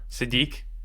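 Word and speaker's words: Sadeet: His name's Sadit. It hurts too much. Sadit.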